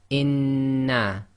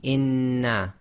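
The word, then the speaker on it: إنّا: So we're going to pronounce this as inna. So essentially, you pronounce the first noon sakin, and then the sound of the second noon comes directly out without taking a pause or breaking the sound. So it'll be inna.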